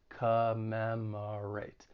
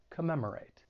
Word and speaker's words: commemorate: third syllable have that schwa sound that unstressed vowel sound which sounds like commemorate commemorate and the next verb